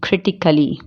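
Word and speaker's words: critically: ए कब साइलेंट होता है? जब उसके लास्ट में ICALLY जुड़ा होता है, उसमें ए साइलेंट होता है, जैसे कि लॉजिकली, फिजिकली, क्रिटिकली। ठीक है, इसमें ए को हम साइलेंट रखेंगे, वरना ए का साउंड नहीं निकलेगा।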